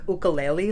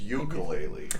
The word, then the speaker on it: ukulele: me and Mark two it's ukulele ukulele you didn't go to the Hawaiian language class you butchered it in all right so